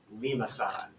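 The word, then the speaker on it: limaçon: Lima-san. Let that roll off the tongue a couple times.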